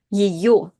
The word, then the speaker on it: ее: Yo is the letter that is always stressed, which means that the first ye is not stressed and again is reduced to this kind of like yi sound. Ее, ее зовут, ее зовут, ее зовут Людмила.